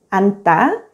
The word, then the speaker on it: 앉다: 겹받침, 니은 지읒 is easy to pronounce since only the first consonant, 니은, is always pronounced as a 받침.